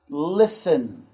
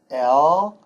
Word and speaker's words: listen: Listen. L-I-S-T-E-N. Now, in this particular word, the T is silent.